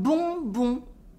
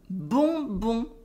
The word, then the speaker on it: bonbon: And at last, un bonbon with a nasal on. Un bonbon. un bonbon.